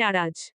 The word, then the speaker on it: আরাজ: Robert কথার ফাঁকে বলে, স্যার এরাজ নয় আরাজ।